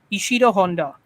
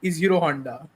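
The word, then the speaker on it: Ishirō Honda: this up ishir Honda you say his name is ishiro Honda so ishiro Honda was the assistant it sounds a little bit like isiro Honda so anyway doesn't matter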